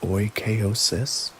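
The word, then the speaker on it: oikeiosis: The crucial stoic concept of oosis pronounced oosis meaning appropriation or familiarization describes the fundamental human impulse and the philosophical process by which we extend our sphere of concern.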